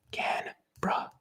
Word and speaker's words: Canberra: how to say canberra canberra should be pronounced can bruh not can become this